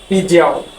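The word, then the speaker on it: 比较: সেটা হচ্ছে হ্যাঁ, পিজিয়াও।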